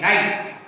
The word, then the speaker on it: knight: तो एक नियम मिलता है कि W के बाद अगर R आता है तो W साइलेंट रहता है, ऐसे के बाद यन आता है तो के साइलेंट रहेगा। जैसे एक शब्द बता KNIGHT, नाइट, नाइट पढ़ते हैं, श्रद्धा।